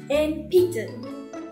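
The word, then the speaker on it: 鉛筆: Thêm một từ nữa, Enpitsu chính là cây bút chì, thì sau in mình có p. P thuộc hàng phụ âm h, cho nên sẽ đọc thành m nha. Enpitsu.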